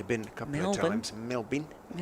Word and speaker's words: Melbourne: Melbourne, as I'm told, it should always be pronounced. I've only been a couple of times. Melbourne. Melbourne or Melby. Melby.